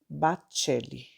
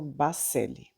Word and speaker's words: Baccelli: Em italiano, se pronuncia Bacelli. Aqui no Brasil, algumas pessoas, eu dei uma olhadinha no YouTube e as pessoas pronunciam Bacelli.